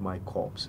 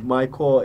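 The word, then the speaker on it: MyCorps: core myc or rps it's not pronounced my corpse my core is basically like the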